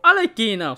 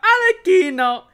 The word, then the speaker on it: Arlecchino: that way because, like, her name is pronounced, like, it's Italian, and you're supposed to enunciate the key, like, Alekina. And so, like, I would have to say Alekina, Alekina. But if I'm going to say Alekina, then I might as well just say it in Italian, Alekina, because it just sounds more natural that way.